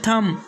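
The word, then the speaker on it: thumb: इसके बाद का नेक्स्ट रूल है, एम के बाद बी आ जाए तो बी साइलेंट होगा।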